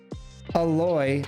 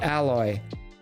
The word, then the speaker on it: Aloy: Aloy, not alloy.